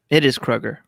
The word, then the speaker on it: Kroger: It is Kroger, Okay.